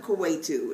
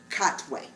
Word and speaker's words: Katwe: It's called Queen of Kuwaitu. Is that how you say it? Katwe. Okay. Queen of Katwe.